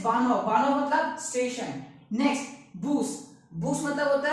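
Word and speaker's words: Bus: Again spelling same है, बस pronunciation का डिफरेंस है।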